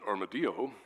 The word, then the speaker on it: armadillo: and also the armadillo which in Spanish is pronounced armadio it was named by the Spanish and it